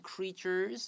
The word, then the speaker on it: creature: oceans 没有问题 with amazing creatures，好，各式各样惊奇的这种生物 and underwater scenery 这个字它是不可数的，所以你不会说 sceneries，好，你会讲 scenery。OK，单数的不可数名词指的是景致、风光等等，所以这种水底的风光、海底的风光，还有许多惊奇的生物都在海洋里面。 Listen to the word creature. The TU 有一点 CH 的发音，写下来 I need a CH.